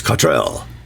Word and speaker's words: Cottrell: Even if people will tell us it's Cottrell, I still can't do it.